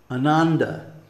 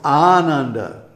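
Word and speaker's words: Ānanda: any other way so when I hear for example a Western speaker pronounce the word Ananda no it's Ananda you see and you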